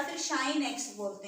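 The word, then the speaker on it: sinh: आप रीड करते हैं साइन हाइपरबोलिक एक्स या फिर शाइन एक्स बोलते हैं, इसको प्रोनाउंस करते हैं शाइन एक्स या फिर साइन hyperbolic x, साइन एच एक्स नहीं बोलेंगे इसको।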